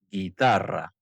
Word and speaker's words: guitarra: En G y gui, la U normalmente no se pronuncia, como en guitarra, pero si lleva diéresis, ue, wi, entonces sí se pronuncia.